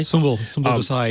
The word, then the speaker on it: Sumbul Desai: Sumbul Desai, yeah.